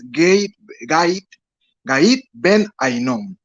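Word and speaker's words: גיא בן הינום: del original griego genena que su pronunciación correcta es gait Ben ainon el gait Ben ainon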